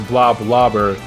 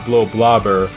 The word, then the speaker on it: Bloblobber: And before anyone asks, yes, it's pronounced Bloblobber, not Bloblobber, although I honestly don't care how you pronounce it.